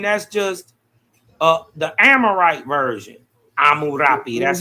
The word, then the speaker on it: Hammurabi: Right, so it's not Hammurabi, but it's Amurapi.